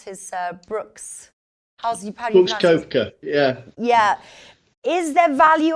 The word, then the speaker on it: Koepka: is Brooks cope cope out how do you pronounce his Brooks koepka yeah yeah is there value on him would